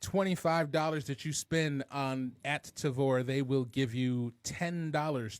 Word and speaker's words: Tavour: So I signed up for a little service called Tavor, which has recently just started distributing or do you started spell that?